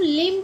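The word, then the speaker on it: limb: कॉम ना कि कॉम ऐसे ही एल आई एम बी तो इसको हम लिम पढ़ते हैं।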